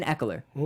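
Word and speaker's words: Ekeler: I'm going to pronounce this guy's name wrong, but Austin Eckler.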